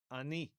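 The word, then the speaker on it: אני: And the independent pronoun meaning I is ani. Ani. Okay. Chataf patach. This is the short A vowel, the ultra short A vowel. Okay. And then chirik yud.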